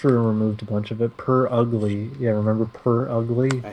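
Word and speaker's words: Purugly: Glam me out well I I I figured it's per ugly just because it's the word Pur and ugly put together clever by the way clever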